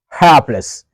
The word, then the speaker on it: hapless: this Advanced word heless let's pronounce at first correctly the vowel sound a is a big sound a and then we stress the first syllable helpless helpless means not